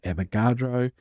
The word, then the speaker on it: Avogadro: And by the way, his name is Avogadro. My computer spell check keeps trying to tell me that his name is spelt Amadeo Avocado.